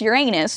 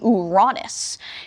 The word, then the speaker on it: Uranus: This is basically their Uranus, what we all know most would pronounce Uranus, but if you said it actually like the Greeks, it would be Uranus.